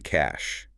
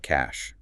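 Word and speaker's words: cache: The third pillar is the cash. C A C H E pronounced like cash.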